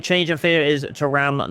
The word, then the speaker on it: Thuram: So Hansen and Thuram, or Thuram as the people pronounce it, is going to start in this highlight game against the OL Stadium against Lyon here.